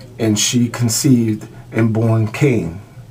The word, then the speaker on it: Cain: The story of Cain and Abel. The man knew Eve, his wife, and she conceived and born Cain, saying, I have given birth to a man-child with the help of the Lord.